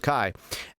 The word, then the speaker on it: chi: letter of um christ or christos which is chi and the x is the letter chi is pronounced chi and then the next letter is ro and